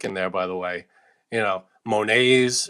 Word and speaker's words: Monet: Monets are in there, Renoir, all these famous artists that don't pronounce the T at the end of their name.